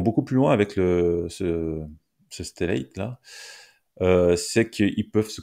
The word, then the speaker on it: Stellate: GraphCDN est devenu Stellate, je sais pas comment on peut prononcer, Ouais, Stellate, Stellat, on va dire à la Stellate française. à la française.